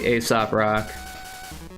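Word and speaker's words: Aesop Rock: But my favorite rapper has got to be Asop Rock. Not ASAP Rocky, but ASOP Rock. They're two different people.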